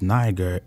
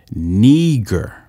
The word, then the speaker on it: Niger: it says niger but it says it's not pronounced niger its pronunciation is neager neger it says it's of latin origin it